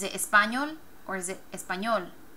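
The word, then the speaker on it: español: Espanol there's your consonant emphasis is on the last syllable espol espol so can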